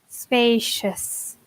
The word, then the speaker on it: spacious: Be careful with the pronunciation here. Is the sh spacious? Exactly.